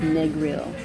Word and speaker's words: Negril: I learned today from my driver that it's pronounced Negril, although people don't really trip off of the other pronunciations as well.